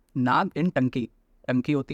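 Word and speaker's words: Ntangki: एन टंकी नाम का है, इसमें एन साइलेंट होता है, ओके।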